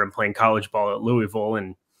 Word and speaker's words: Louisville: playing college ball at louisville and a louisville i think is how they say it there something like that it's just don't enunciate the words but yeah he's he's